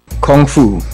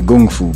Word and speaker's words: Kung Fu: Kung Fu well the real pronunciation is actually Gung Fu but that's a story